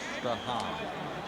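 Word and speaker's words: Strachan: As you look at Steve Strahan, the veteran running back from Boston College, leaving the field, a fine special teams player. That's right, folks. You pronounce it Strahan.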